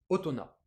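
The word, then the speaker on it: 大人: Du coup, ce truc, indépendamment des lectures purement japonaises et indépendamment des lectures sino-japonaises, ça se prononce avec une lecture qui vient d'ailleurs, purement japonaise, otona.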